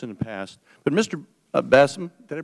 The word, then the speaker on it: Basham: Basham, did I pronounce that right? Basham. Basham, thank you very much.